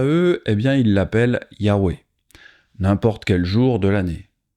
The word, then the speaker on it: Yahweh: So we have the yud, the hey, the vav, and then the hey. And that's pronounced, most scholars tell us it's pronounced something like Yahweh or Yahweh.